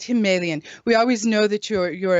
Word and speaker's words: Himalayan: Gudri, he said, no, we don't say Himalayan, we say Himalayan. It's the Himalayan mountains, not Himalayan.